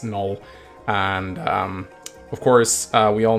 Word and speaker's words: Knoll: three we have null I usually call him Canole that's just my pronunciation a lot that pissed off a lot of guys I know it's Knoll and of course we